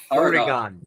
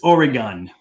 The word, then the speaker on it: Oregon: but he mispronounces it Oregon Oregon it's Oregon like a gun and uh it's a